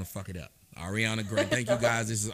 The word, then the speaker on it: Arriana: your first name I don't even AR okay Ariana okay cool I didn't want to it up Ariana thank you guys this is Ariana Grande my